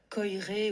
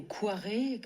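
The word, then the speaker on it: Koyré: C'est Alexandre Coiré ou Quiré selon les prononciations.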